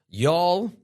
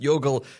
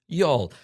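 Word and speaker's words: Youghal: Followed by Money Gore, Queen Elizabeth Pipe Band, Katan, Alnave Memorial, Y'all. Yes, that's how you pronounce that.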